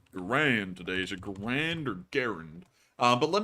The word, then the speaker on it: Garand: walked up she's like I wanted to correct you it's actually Grand and I was like oh that's like he's right and when she's right yeah it's Grand it's not it's garant it's Grand I guarantee you it's